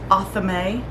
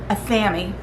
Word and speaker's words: athame: Now, I have heard it pronounced Athame. I think it's a matter of country, wherever you're from. We in America pronounce it Athame, but I'm not saying that's the only way to say it, but it is pretty close.